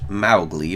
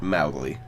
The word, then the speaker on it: Mowgli: grown into Mowgli actually Rudyard Kipling intended the name to be pronounced Mowgli but thanks to this film I don't think even Andy Serkis is more faithful adaptation from last year could be bothered pronouncing it Mao Lee yeah Mowgli is depicted